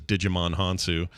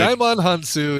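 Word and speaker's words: Djimon Hounsou: I would have thought so too, because it looks like Jaimon Hansu is who he's talking about, and all he's doing is just pronouncing the D that's at the beginning of that name.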